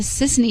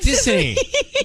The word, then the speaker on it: Sissany: Is it Tiffany? No, it's Sissany.